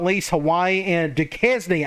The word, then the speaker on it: Duquesne: not least, Hawaii and Duquesne. I think that's how you say it, not Duquesne, although I think that sounds a little bit better.